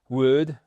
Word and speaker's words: would: Donc ce would vous le retrouvez et attention évidemment c'est comme could would c'est un ha cour il y a pas de l c'est pas I would like coffee please.